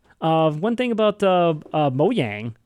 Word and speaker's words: Mojang: one thing about the mo yang cuz now I know how to say it it just bugs me so like saying mojang and cuz it makes